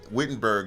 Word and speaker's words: Wittenberg: It's Wittenberg. It's pronounced Wittenberg because it was in Germany.